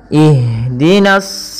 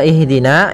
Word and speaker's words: ihdina: Pada bacaan ihdina di sini ada huruf ha yang dia sukun. Ha ada salah satu sifat yang dia harus kita lafalkan ketika membacanya, yaitu sifat hamas. Hamas artinya mengalir nafas kita, mengalirnya nafas kita. Maka jangan sampai huruf ha ini memantul. Misalkan ihdinas sirata, ya. Akan tetapi alirkan nafasnya ihdina.